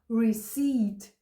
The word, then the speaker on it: receipt: І третє слово, це, до речі, його часто плутають із словом рецепт, адже воно більш-менш схоже на наше слово, але читається воно receipt.